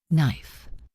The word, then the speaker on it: knife: Knife silent K.